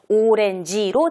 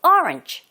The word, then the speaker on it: orange: 그런데 발음이 약간 다르죠. 오렌지로 들리지 않고 orange, 그리고 tree, courtyard가 아니라 courtyard. 강세가 정확하게 가면 제대로 들립니다.